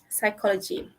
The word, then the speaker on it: psychology: c signs ascend Ascent silent p uh it's actually silent p a bit foreign this one is easy psychology okay and then we